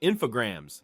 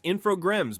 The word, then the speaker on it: Infogrames: Infogrames, still pronounced Infograms by 50% of American gamers, was riding a weirdly eclectic wave.